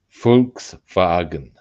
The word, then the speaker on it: Volkswagen: It's a an FV. Folks fagen.